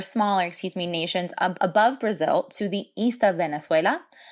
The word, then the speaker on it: Brasil: and this is called brazil one more time note that we don't pronounce that hard z like we have in english it's pronounced like an s and in brazil we